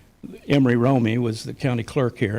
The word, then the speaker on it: Rome: that that's how Emery Romey was the county clerk here, and that's how some of the family pronounces R-O-M-E, not the double M's, the R-O-M-E's.